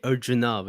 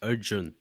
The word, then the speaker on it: Arjun: you never never someone some people say urjunov and actually it's just Arjun you know like the a is like uh it's a different way it's like Arjuna like that yeah Arjuna